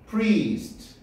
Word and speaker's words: priest: pre 길게 해줘야 돼. 점이 찍혀져 있어. priest 됐냐?